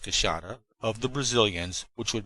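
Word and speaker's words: queixada: Whereas I did wish to get some specimens of the big white-lipped peckery, the kashada, which is pronounced kasada, of the Brazilians, which would make our collection of the big mammals of the Brazilian forest almost complete.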